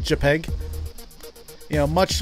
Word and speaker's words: JPEG: save a peg a JPEG that's how it's pronounced by the way it's called JPEG you know much like much much like much